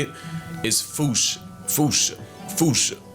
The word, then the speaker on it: fossa: say it is Foosh, Foosha, Foosha. Like Foosh, with a performance anxiety at the end.